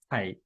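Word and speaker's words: ไข่: 달걀 의 경우 , " 카이 " 라고 읽으시면 됩니다 . 하강조 로 읽으세요 . 카이 .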